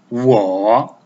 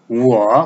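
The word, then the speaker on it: 我: Wo. Wo contains the third tone.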